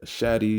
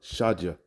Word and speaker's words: Shaddai: Okay, you see, he was known as Allah Shadja, El Shadi, Al Shaddai. You know, different pronunciations, but we say Allah Shadja.